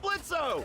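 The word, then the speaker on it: Blitzø: hey that sounds like blitzo the O is silent asshole hey I knew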